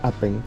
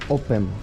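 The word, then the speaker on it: Åpen: Apen, o sea que se lee Apen, pero aquí en Noruega la A con este redondito aquí arriba se lee O, entonces sería Open.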